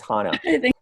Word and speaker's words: Hannah: you haven't corrected me it's not Hannah it's Hannah okay no problem um